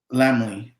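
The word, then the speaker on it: Lamley: give me the name again so I don't mispronouncing landly lambly uh l-a-m-l-e-y oh lambly group shout out lambly group absolutely yeah man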